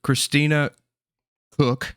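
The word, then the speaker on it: Christina Koch: Reed Wisman, Victor Glover, Christina Cook, that's how you say it.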